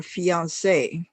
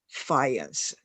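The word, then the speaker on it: fiancé: be married when her fiance okay fiance uh on this e there should be H an accent on it so you would pronounce it fian instead of fence which it is a French word uh her fiance came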